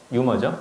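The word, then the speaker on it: humor: 유머죠. 그쵸? 자, 유머라는 것은, 어차피 휴머라고 읽는데요.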